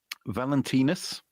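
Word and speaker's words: Valentinus: Uh originating as a western Christian feast day honoring one or two early saints named Valentinis um which rhymes with penis.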